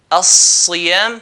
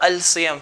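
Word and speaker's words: الصيام: We have here ra, ar-room, zay, az-zaytun, sad, as-siyam. So not al-siyam.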